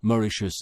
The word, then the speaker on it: Mauritius: vieux nom hollandais de Mauritius qu'on prononce maurriichus à la Britannique désormais les trois mascarenes